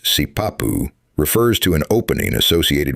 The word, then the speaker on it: sipapu: The term, generally written as sipapu, pronounced sipapu, refers to an opening associated with emergence.